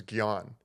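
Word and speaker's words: jñāna: it was amazing yeah the the Sanskrit word for like knowledge in a sense is gon right and there's these it's spelled with a J it's j a n a is the way would kind of spell it it English translated okay and there's these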